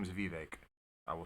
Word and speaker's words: Vivek: more American name if you want me to pronounce it right nah that was a joke I'm kidding I'm kidding his name is Vivek I will say Vivek um I'm just playing